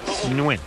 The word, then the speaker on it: Nguyen: It's Nguyen.